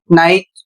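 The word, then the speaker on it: night: अगला शब्द है एन आई जी एस टी नाइट रात और यहां पर जी एच साइलेंट है।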